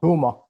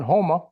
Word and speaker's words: Houma: Huma. This is the way you pronounce it. It sounds like Homer, like Yeah. Homer. Yeah. That's the way Homer, Alaska is spelled, Homer. Down in Homa.